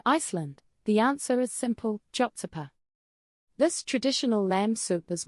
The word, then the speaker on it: Kjötsúpa: Chopsa. This traditional lamb soup is more than just a meal. It's a bowl full of history, warmth, and sustenance. It's the ultimate Icelandic comfort food. Jotsa, pronounced kyotu pa, is a hearty, simple soup, perfect for combating